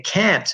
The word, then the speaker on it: can't: But if we say can't, we're really stressing the A in can't. English learners pronounce them both the same.